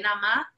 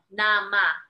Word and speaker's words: Nama: Cuembe, Cuembe, Nama, N-A-M-A, Nama, which is basically nada más, but in Puerto Rican Spanish, we like to cut syllables at the end, so it's Cuembe, Cuembe, Nama, that's the coro.